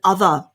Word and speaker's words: other: but something else and the pronunciation of this is quite hard because of the whole vibration so we've got the word ah ah so in the middle there the th is the vibration th so basically what you